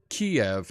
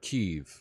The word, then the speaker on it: Kiev: I say Kiev, not Kyiv, not Kyiv. Yeah. When that came about, that was because Kiev is the Russian pronunciation of the capital city, and Kyiv is the Ukrainian pronunciation of their capital.